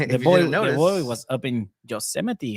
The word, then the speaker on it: Yosemite: It was because the boy was up in Yosemite. How was that for you? I'm very, very impressed that you can say the word Yosemite as opposed to Yosemite, which I actually called it Yosemite for a while.